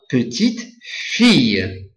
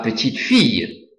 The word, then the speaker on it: petite-fille: La petite-fille. So for the double L, you pronounce it like a Y. La petite-fille.